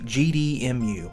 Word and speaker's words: GDEMU: So to my left here, we've got what's called the GDEMU, and it's exactly the way it's spelled, GDEMU.